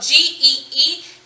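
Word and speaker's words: gee: an expression it's spelled g-e-e and that is pronounced g like literally you're saying the letter g but it's now a word it's an expression that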